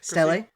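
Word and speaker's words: stele: There is a surviving um steel. Is that how you pronounce that word? Stle.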